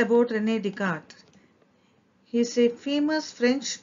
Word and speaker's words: René Descartes: screen he is rene descartes we have to pronounce it to be as rene descartes and let's see what the story about him